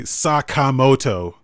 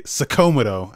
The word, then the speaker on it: Sakamoto: like um like it's supposed to be sakamoto but they say sakomido and i'm like that's not how you pronounce that really i thought they